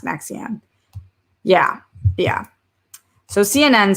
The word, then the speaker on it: NXIVM: Is it Nexium or what was the name of the I think it was called Nexium, but I think it's NXIVM, Nexium, but pronounced Nexium.